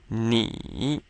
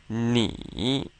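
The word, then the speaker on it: 你: much like our n but the I sounds like the e in B but not exactly so to get more accurate it's helpful to smile a big smile when you say e so we come up with and is third tone so let's try this three times together knee knee excellent next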